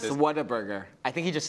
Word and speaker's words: Whataburger: Whataburger. I think he just says it weird. Whataburger? Whataburger. Whataburger. It's what a burger run into one word.